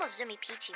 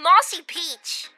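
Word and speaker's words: Mozumi Pichi: it's not it's gibberish it's supposed to be Mossy Peach I've eaten quite a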